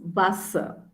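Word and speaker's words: Wasser: with that s z symbol then water is vasa okay vasa is water and german eu is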